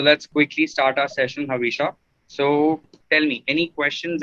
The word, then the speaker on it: Havisha: So Havisha, let's quickly start your am I pronouncing your name correctly, Havisha? Right? Yes.